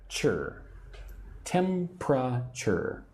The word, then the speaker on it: temperature: I'm going to take your temperature now. Again, this word looks like temperature, but I say it with three syllables. Temper. Tempure.